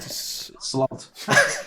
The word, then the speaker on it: Slalt: Just chuck an L in there, mate. Slalt.